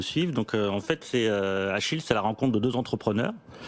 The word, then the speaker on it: Acheel: ça bon soir françois ça se prononce achille achille comme le prêt normalement le prénom c'est